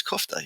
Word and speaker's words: Kuchta: Bratislava, and I'm like, how do you say my name? And she's like, oh, it's Kuchta, you know.